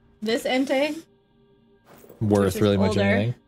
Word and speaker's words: Entei: I knew this was pronounced Entei. I feel like that's... How else would you pronounce it? Entia. Entia? Entei. Entei. Okay, I guess you would probably pronounce it Entei. Yeah, it's the only way that, like, logically makes any sense.